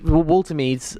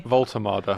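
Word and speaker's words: Woltemade: So, so he will get his debut Walter's or how do you pronounce it again? Sorry, Volultard. Volto will score on his debut for Newcastle and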